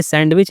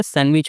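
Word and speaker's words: sandwich: हालांकि यह सैंडविच नहीं होता। सैंडविच होता है। डी साइलेंट होता है इसमें।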